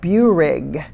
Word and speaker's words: Buehrig: They hired away a man named, and many of you may know this name, and I may be mispronouncing it, Gordon Buehrig, B-U-E-H-R-I-G.